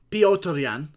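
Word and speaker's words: Petr Yan: Piotr Yan, as it's correctly pronounced.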